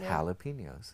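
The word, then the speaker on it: jalapeños: Or jalapenos, which is pronounced jalapenos.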